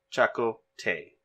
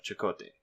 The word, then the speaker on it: Chakotay: stubbornly refusing chuckle Tay they pronounced a weird in the simulation by the way chuckle Tay instead of Chakotay Chakotay tells the prisoner